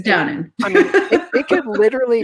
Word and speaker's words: Downen: It doesn't have to be pronounced or said. It's fine. It's Downen.